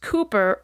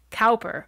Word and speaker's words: Cowper: is spelled c w p e r and pronounced Cooper rather than as I thought when I started writing episode Cowper he was born in 1731 in herfordshire and